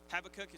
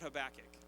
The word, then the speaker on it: Habakkuk: in the Old Testament have a cookie sometimes how people pronounce it but have a cake and I just want